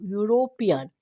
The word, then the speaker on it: European: is your word starts European with a e e is a Vel but it gives you the sound of U European when you gives e